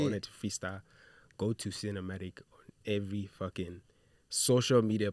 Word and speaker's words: Sinnamatic: Sinnamatic comes from the word cinematic, like CINE. But you spell it matic. S-I-N. I spell it SIN Yeah.